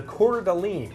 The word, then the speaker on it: Coeur d'Alene: the first one is the quarter golly Wow well well pronounced and I'm at the register on the phone people are like I'll have that uh you know the guy got the Coeur d'Alene yeah we're Dallas the French way that's it and you